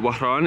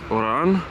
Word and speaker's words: Oran: here in wahan Iran people call it wahan it's pretty it's a pretty romantic name in English of course it's Oran or Oran if you cannot pronounce the O and then you have